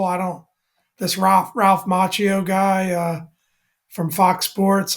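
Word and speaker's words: Macchio: I was like second now you you pronounced that beautifully you know Ralph vako very very well said a lot of a m would say aano or something like that but uh um yeah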